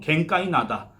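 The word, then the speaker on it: 玄界灘: 표현이 칸에 듯한 그니까 일본어 발음은 갱 까이 나다 이렇게 불렀다는 얘기가 됩니다 이게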